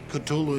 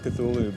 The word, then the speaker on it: Cthulhu: And so finally, in a letter of 1934, he tells a colleague, well, it's really meant to be 2 syllables. You're supposed to put your tongue at the roof of your mouth and cough it out like Cthulhu.